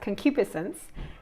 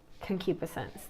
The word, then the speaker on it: concupiscence: wrong I'd apologize but I believe it's pronounced concupiscence and concupiscence is the intense